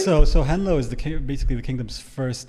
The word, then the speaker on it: henlo: Am I pronouncing that correctly? It's henlo, yeah.